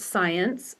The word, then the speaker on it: Siantz: there e do science my last name m s i a ntz pronounced science by the way at